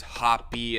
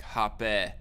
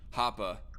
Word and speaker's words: Hoppe: heard it pronounced like hoppe like with a short e not a long beard whatever actually it's not even pronounced with a short e sound it's more like a short a sound hopper but it depends on